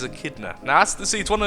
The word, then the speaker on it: echidna: I echidna is it is it pronounced echidna I want to say a kidder but don't think it is after you know only googly how do you pronounce this okay so Google agrees with me it is a kid nuh that's the seeds one